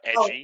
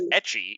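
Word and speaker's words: ecchi: a edgy metal animates it's not you mispronounced etchy you said edgy and I was like it's not edgy it's etchy e-c-cchi oh yeah every time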